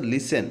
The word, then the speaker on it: listen: অ্যান্ড লিসেন, LISTEN এটার উচ্চারণ হচ্ছে লিসেন, অ্যান্ড লিসেন শোনে, টু মিউজিক, MUSIC, মিউজিক।